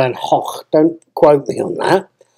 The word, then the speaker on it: Van Gogh: Van Gogh well then I think it's pronounced the van hock don't quote me on